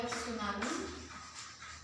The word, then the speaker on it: tsunami: Number one is your tsunami. Now here T is silent, okay?